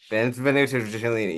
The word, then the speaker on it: Benvenuto Cellini: This I Benvenuto Cellini. Benvenuto Cellini.